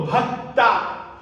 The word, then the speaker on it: भक्ता: जब भ बोलेंगे तब आपको यह ख्याल में रखना है कि भ में अ जुड़ा हुआ है मात्रा के रूप में तो भ बोलना है आधा भ आपको नहीं बोलना आधा भ बोलेंगे अशुद्ध उच्चारण हो जाएगा फिर है दूसरा ता क आधा बोलेंगे त में आ की मात्रा जुड़ी हुई बोलेंगे तो भक्ता यता जब आप मर